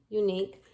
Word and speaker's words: unique: So even though it starts with U, unique, the Y at the beginning is actually a consonant sound.